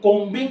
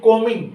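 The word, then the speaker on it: combing: please pronounce है इसको कांबिंग नहीं कहना बी जो है वो साइलेंट है जहां पे कमिंग वही यू कमिंग योर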